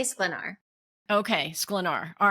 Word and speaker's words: Sklenar: The correct pronunciation is Sklenar, but no American even can make that noise with their tongue unless they have like extensive training. So we say Sklenar.